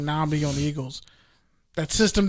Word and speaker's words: Nnamdi: Say Nam. Nnamdi. Like Vietnam. Think of Vietnam. Nnamdi. Nnamdi. Nam-D.